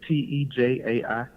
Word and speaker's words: Tejai: It's Tejai, and a lot of people pronounce it different ways, which is totally fine.